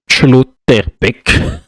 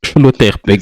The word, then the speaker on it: Schlotterbeck: Schlotterbeck. Nico Schlotterbeck. C'est la prononce.